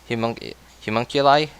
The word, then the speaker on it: homunculi: Am I even pronouncing that correctly? Yeah. Homunculi?